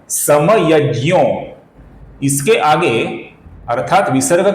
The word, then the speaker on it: समयज्ञो: किंतु ये दोनों उच्चारण संस्कृत के दृष्टिकोण से सही नहीं है दोस्तों।